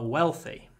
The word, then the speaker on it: wealthy: grandparents his grandparents are wealthy wealthy well hold the W hold the W don't say we we wealthy wealthy they're wealthy people